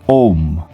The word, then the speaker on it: Aum: a u and M the u sound is pronounced as a long o which makes it sound like om the n Sound is